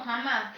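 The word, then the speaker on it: Hamás: siglas eh Es que no es jamás es es h a m s o pero se pronuncia como jamás jamás con h Pero entonces por las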